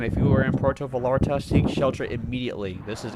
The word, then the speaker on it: Vallarta: It's Vallarta. Double L pronounces as a Y.